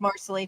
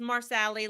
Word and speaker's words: Marsali: I like Marcelly too. Marcelly Parsley. Yeah, It's the only way I knew how to pronounce the name. I used to call her Marsali. that's what I call her. It's Marsali, leg hair.